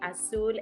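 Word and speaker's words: Azul: asude Productions blue spirit and also it's a-n-i-m-a asul a-z-u-l Productions on Instagram and on on the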